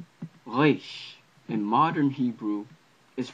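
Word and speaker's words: ריש: Reish in modern Hebrew is pronounced like, I believe, Rain should have been pronounced in ancient Hebrew. It sounds similar to a French R in modern Hebrew.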